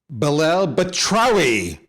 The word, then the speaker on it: Belal Batrawy: the attention war folks watch this you ready belle batrowi i said it right we're going to end